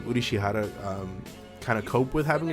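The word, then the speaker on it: Urushihara: It's cool to see how Ashiya and Udishihara, there's how you pronounce his name, Udishihara, kind of cope with having a child.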